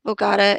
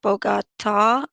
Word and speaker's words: Bugatti: also mentioned in the bugatti and i was told that i'm saying this wrong so i will learn how to say it correctly it's like bogata but bogata backscatter is the mention